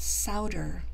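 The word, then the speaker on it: Sowder: it turns out that souter which rhymes with chowder if you're wondering how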